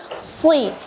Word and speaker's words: ص: tebal dan juga memang seharusnya huruf shad ini kita bacanya bukan sui. Tadi kedengaran dari suara ukhti Nabila ini atau adik Nabila ini membacanya sui. Jadi harus si. Jadi harus ada angin yang keluar ketika melafalkan huruf shad.